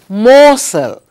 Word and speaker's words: morsel: what does this mean morsel r is silent but o and r together make or sound not o or if without the